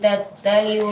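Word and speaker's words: تطلع: Allati tattali'u 'alal afidah. Ya, tattali'u. Huruf yang keduanya huruf to-nya ditebalkan.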